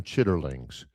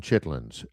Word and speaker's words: chitlins: Um but nobody on the whole planet calls them chitterlings. Everybody calls them chitlins.